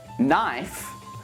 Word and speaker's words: knife: still do this now here are some words when we don't pronounce the k knee knife Knights mint knob knock